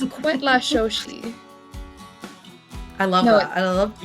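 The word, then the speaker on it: Cuetlaxochitl: the word is what La Shoshi oh cool yeah so it's like an actual indigenous word and it's spelled c-u-e-t l-a-x-o-c-h-i-t-o so it definitely isn't pronounced how it looks that's you know what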